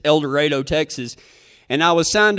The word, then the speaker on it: El Dorado: And you know, like a lot of towns, you know, it's spelled El Dorado, but you can always tell who the new people are because that's how they pronounce it. But it's El Dorado, Texas.